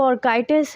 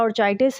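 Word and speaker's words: orchitis: अगर पेशेंट को ऑर्काइटिस है या ऑर्चाइटिस है, जो भी मैंने कहा दोनों तरीके से प्रोनाउंस कर सकते हैं।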